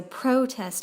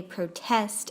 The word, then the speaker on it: protest: syllable that is stressed in English verbs tend to be stressed on the last syllable and nouns on the first you say there's a protest outside but they protest against injustice then in my examples